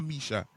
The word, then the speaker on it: Meisha: Is Michelle or Meisha? Meisha. Meisha. It's all like Michelle.